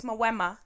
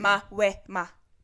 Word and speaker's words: Mawema: It's Mawema. That's crazy. Mawema is how it's actually. It's really like, not that hard Mawema, either. Like Mawema, but it's Mawema.